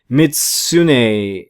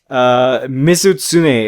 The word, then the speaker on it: Mizutsune: His name is Mizutsune, if I remember correctly.